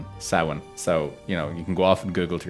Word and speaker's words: Samhain: However, like a lot of Irish words, it is not spelled like it's said.